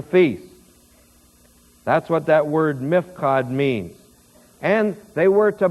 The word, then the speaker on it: mifkad: Here, where it says, burn it in the appointed place of the house, that word, appointed place, in Hebrew, is mifkad. And I'll spell it for you, M-I-P-H-Q-A-D.